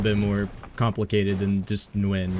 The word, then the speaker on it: Nguyen: It's different in the north than the south, but the way you gotta say it, the N is in the back of your throat.